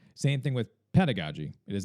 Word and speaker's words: pedagogy: to call out first is that it is pronounced as androogi. It is not androgoi. Same thing with pedagogy. It is not pedigogy.